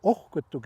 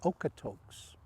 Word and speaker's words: Okotoks: little more about ukutok now okutuk is a very special spot some will pronounce it okotoks but the blackfoot word means and basically what